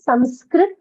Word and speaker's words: Sanskrit: that's the correct word people write it as s-a-n-s-k-r-i-t and pronounce it as Sanskrit that is more of